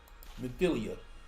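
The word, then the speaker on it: Minfilia: Is that Milfonia? What's her name? It looks like her. Mithilia.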